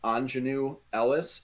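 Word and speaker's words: Aunjanue Ellis: at her name and i believe it's pronounced anjanu ellis uh who plays oracine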